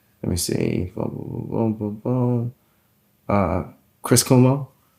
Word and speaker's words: Cuomo: Uh Chris Kumo. Chris Cuomo.